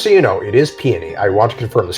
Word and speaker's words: Peony: you know it is peony i want to confirm this because the flower is pronounced peony and that's where she's named after oh peony that makes